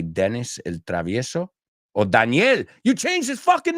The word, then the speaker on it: Daniel: I'm like, what do you mean Danielle? Danielle is a girl's name. Daniel. O sea, eso en inglés. Soy Daniel. En inglés, no. That's Danielle is feminine. Daniel. O sea, que cambia la pronunciación.